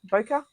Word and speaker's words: Bokeh: Bokeh. How do you say it? Bokeh.